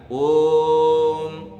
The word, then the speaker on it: ओम: बता रहे हैं कि वहां पर जो ओ है उसका उच्चारण जल्दबाजी में मत करो ज ओम बोल देते हैं ना बहुत सारे लोग ओम ऐसे नहीं बोलना है ओम उसका ठीक उच्चारण वो है उसी प्रकार से उसका